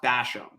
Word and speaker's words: Bassham: Today we have Lanny Bassham, or I think it's pronounced Basham, Yes.